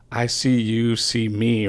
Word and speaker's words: ICyouCMe: And then I was like, oh, I see you, see me rhymes with mix CD.